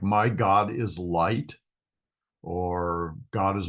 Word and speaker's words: Gad: uh God uh and this is pronounced as if it was a kind of a o sound uh God uh not Gad as as we would say in English so it's God where Zion Hai Shi